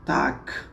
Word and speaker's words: Tag: aí, no alemão, né, o dia em alemão, Tag, né, TAG, né, mas a pronúncia o G tem um som de K normalmente, né?